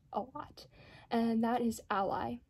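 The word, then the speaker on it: Alai: and that is ally i think that's how you pronounce it because symbolically it would make the most out of sense it's spelled a-l-a-i and the reason that i think it's ally is because symbolically what is an ally an ally is someone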